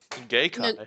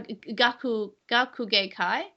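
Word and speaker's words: 学芸会: Gay Kai. No, Gakugei Kai.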